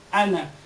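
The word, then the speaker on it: أنا: Ang ana, totoong may mad dyan na alif, may nakasulat pala na alif dyan, na sukun, pero hindi yan binibigkas. Nasasabi mo nung ana, hindi. Yan ay binabasa na ana.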